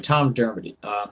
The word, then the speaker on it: Dermody: Anyway, Tom Dermody. Another individual we have running for mayor is Tim Stabos. I love her. Hey. Anyway, so Tom Dermody just so happens to be on this amicus